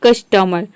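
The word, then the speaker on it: customer: देखिए यहां पे है कस्टमर कस्टमर यानी कि कस्टमर र पूरा नहीं बोलते हैं हम यहां पे कस्टमर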